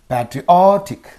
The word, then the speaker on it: patriotic: stress apologetic apologetic apologetic so patriotic I is there so preceding syllable o patriotic patriotic right and here gramal